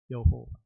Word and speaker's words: 여호와: 빨갛게 됐고 어 Y하고 빨갛게 된 몸을 붙이면 야가 되고 H와 O를 붙이면 호가 되고 W와 L를 붙이면가 되고 마지막 H는 발음하지 않습니다.